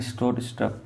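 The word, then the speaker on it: Stroustrup: ठीक है, थोड़ा प्रोनाउंसिएशन ऐसा ही है, स्ट्रोस्ट्रप।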